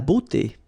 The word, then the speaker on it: beauté: Remember, we've got this combination of a, u here, of the vowels, okay? But then it will give you the sound o, beauté, okay?